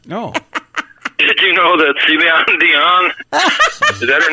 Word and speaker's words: Celine Dion: Did you know that Celine Dion, is that her name? Celine Dion. I was pretty close, wasn't I? Yeah, Ceiling Dijon was also very close.